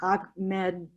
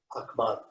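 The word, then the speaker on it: Ahmaud: And I can't pronounce this one. Ahmed, the person who was shot while out jogging recently. It's just on and on. There's just, I'm sorry. Ahmad.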